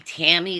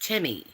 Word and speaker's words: Temi: And that's how you say my name. And it's real simple. Um a lot of people want to say it different. If you want to call me Tammy, that's fine, too. I don't get offended very easily, so do your best. But it's actually pronounced Timmi.